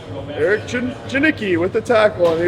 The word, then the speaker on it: Janicki: thank you Mr janii not janii but janicki it's uh I I